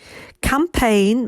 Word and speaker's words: campaign: to make the br campaign make sure that cm blend is wide g of course is silent in campaign contributed so the long